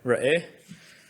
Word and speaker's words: Re'eh: Ra'eh, which means to see.